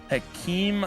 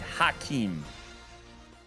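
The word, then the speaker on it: Hakeem: Hakee Elijahan. Oh, no, no, no, no. Down. Uh, 50 50. I said it wrong. My bad. No, it's Hakeim.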